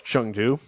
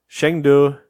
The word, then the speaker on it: Chengdu: Oh, it's Chengdu. Yeah. All right, so Hangzhou, Chengdu, and Guangzhou. Guangzhou. Guangzhou. Yeah. Okay. In case you're curious, if you want to get more Nate pronunciations on these, Hangzhou, Chengdu, and Guangzhou is how I would.